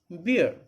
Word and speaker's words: beer: underlined it because here the pronunciation is not bare as in case of b e a r the slot bear but here it is beer and alcoholic liquor any